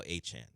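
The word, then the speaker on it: Etienne: I'm reading it and it says ATN, but I know it's now Achan.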